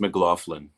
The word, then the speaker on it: McLaughlin: It's pronounced McLaughlin.